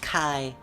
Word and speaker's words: chi: Weather is a type of chi. Chi. Sometimes pronounced kai.